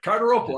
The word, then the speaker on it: Cardarople: comedy reservation dogs which is great it's maddie cartero maddie thanks for joining us man how you doing thanks for having me and perfect pronunciation yeah you do have you have a tough name there but carter opal i got it right and my middle name's